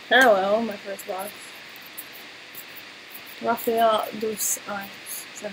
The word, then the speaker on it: Rafael dos Anjos: Rafael dos Anjos.